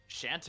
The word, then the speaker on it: Shantae: The idea I've heard for Shovel Knife mostly was uh Shante. Shante. Shante. Yeah, that's how you pronounce her name.